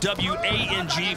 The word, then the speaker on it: Wang: And yes, it is spelled W-A-N-G, but is pronounced Wang.